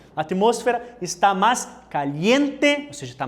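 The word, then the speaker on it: atmósfera: olha espanhol aqui moço moço tá olha a pronúncia atmosfera está mais Caliente você está mais quente né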